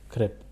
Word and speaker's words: crêpe: Elles ne font pas de crêpes.